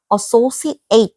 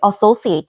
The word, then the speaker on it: associate: 이게 동사일 때는 발음을 associate 그러니까 뒤에 발음을 ate 이렇게 해줘야 돼. associate 그 다음에 명사 형용사일 때는 associate라고 해줘야 돼. 마지막에 associate 동사는 associate 명사 형용사 associate까지 해주는 게 이제 포인트예요.